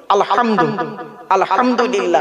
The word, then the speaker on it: আলহামদুলিল্লাহ: রাব্বিল আলামিন আলহামদু এই গলার ভেতর থেকে হেটা উচ্চারণ করবেন আলহামদু আলহামদুলিল্লাহ মানে হচ্ছে সমস্ত প্রশংসা আল্লাহ তোমার আর আমরা